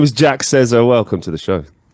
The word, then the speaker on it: Sezer: Yeah, my last name is pronounced Sezer. It's My Turkish.